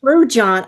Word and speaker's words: Lou John: Lou John. Oh, you do pronounce the J.